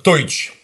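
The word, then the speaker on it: Teutsch: Оно пишется как Д, Е, У. ТСЦХ. ТСЦХ. Да. А раньше, на средневековщине, оно писалось то же самое, только через Т. Т, Е, У, ТСЦХ. Это называлось только как Тойч.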